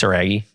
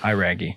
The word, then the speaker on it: Iraggi: That's not actually how you say it. It's like some... Iraggi. Like literally. Yeah. It's Iraggi. Yeah.